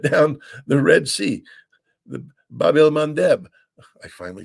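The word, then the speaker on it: Bab-el-Mandeb: hoodie have shut down the Red Sea the Babel mandb I finally said it right and um they've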